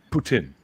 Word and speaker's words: poutine: you say it right yeah put in actually it's how it's pronounced okay all right can